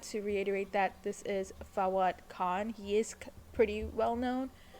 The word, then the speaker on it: Fawad Khan: By the way, I've been saying his name wrong. His name is Fawad Khan.